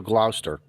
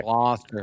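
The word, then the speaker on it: Gloucester: We brought the kids up to Glouster. Glouster. Sorry. What? Glouster. Glower. How do Okay. How Okay. H how does a Connecticut guy supposed to annunciate this word? Glouster.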